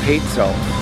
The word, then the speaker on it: Pezzo: I'm the general manager of Pizzeria Pezzo. And then yes, it's Pezzo. Spells Pezzo, but it's Pezzo. In case anybody's wondering how we pronounce it.